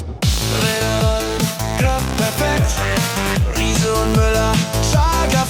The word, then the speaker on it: Riese und Müller: I'm German, so I will pronounce it in German, okay?